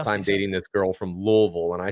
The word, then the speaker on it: Louisville: Don't say Louisville. That's Louisville. Good job. I was wondering if you'd say it right.